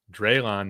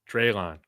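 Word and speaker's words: Dre'lon: It's Drayon, not dry. That's what Dante's saying. Okay. It's pronounced long a forget what that was. Long a dre. Drayon.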